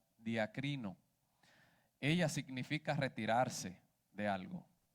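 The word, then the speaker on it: διακρίνω: Una definición, hermanos, según el diccionario Strong, en el original esta palabra duda viene del griego y se pronuncia diacrino.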